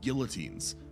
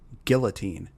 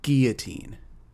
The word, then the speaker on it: guillotine: You had prisoners tied to racks, guillotines, various torture contra that would make a medieval exe.